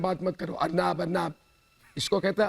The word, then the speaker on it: अर्नब: अरे सुनो, मैं क्या कह रहा हूं, अर्नब बोलो, संस्कृत में महासागर। भारतीय लोगों के नाम का उच्चारण करना सीखो।